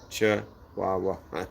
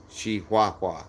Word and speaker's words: Chihuahua: guys look at the it's c h i h u a h u a CH waah I don't know if not it's like shei waah I don't know but I'm just saying Chihuahua I don't care so